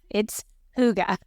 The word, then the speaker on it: Hygge: It's Hygge.